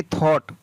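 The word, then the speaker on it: thought: THOUGST, तो इसको पढ़ेंगे थॉट, क्या पढ़ेंगे, थॉट।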